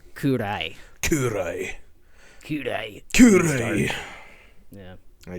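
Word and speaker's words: 暗い: Kurai. That's dark. What's that mean? Gurai? Kurai.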